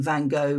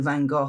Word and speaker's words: Van Gogh: Aside from the fact how to pronounce his name, Van Go. Van Go. Van Gogh.